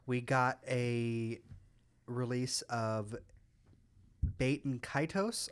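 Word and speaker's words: Baten Kaitos: got a release of baiton kitos I think is how it's pronounced said that like HEK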